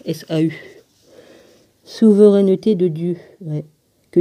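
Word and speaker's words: Ésaü: j'ai haï this is our souhaitait isso qu'on prononce s a eu souvent annotés de dieu que disons-nous donc y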